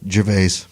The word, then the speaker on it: Gervais: we're talking about Ricky Jerus Jes or is it Jerus? How do you say it, Elliot? Jerves. Jerves. Yes, that's how I do it.